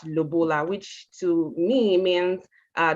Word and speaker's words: lobola: to talk about the i think it's called lobola please correct me if i i'm right or wrong but i i pronounce it as lubola which to me means